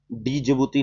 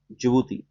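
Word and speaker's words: Djibouti: डी जिबूती नहीं, जिबूती, डी silent here.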